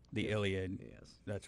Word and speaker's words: Iliad: the, oh my God, am I going to pronounce this right? Iliad? The Iliad.